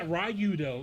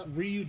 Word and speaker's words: Ryudo: It's It's not Rayudo. It's Ryudo. No, Ryudo. That's how it Okay. Now, if his name is Ryudo Uhhuh. why isn't his name is Street Fighter Ryu? Because the do is silent.